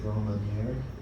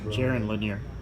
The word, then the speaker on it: Jaron Lanier: It is Jerome, how do you pronounce it? Jerome Lanier? People that might know Jaron Lanier.